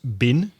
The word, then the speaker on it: been: For example, in words like been, B-E-E-N, in connected speech, that's often pronounced bin.